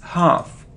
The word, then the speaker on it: half: don't pronounce C must it isn't health not health it's half our if one sound our it's half it isn't Jenner or